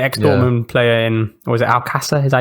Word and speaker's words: Alcácer: They got the ex-Dortmund player in, was it Alcácer? Is that how you say it? Alcácer.